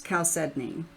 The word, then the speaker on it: chalcedony: But it's Chalcedony, which is not how I learned how to say it.